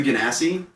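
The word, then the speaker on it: Genasi: options first off there's the ganassi um which i looked it up that's how that's pronounced yes i'm i'm being very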